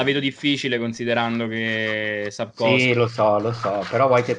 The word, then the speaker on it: Sapkowski: Sapkowski, Sapkowski, non Esatto. so come si pronuncia perché ci sono un po' troppe consonanti vicine.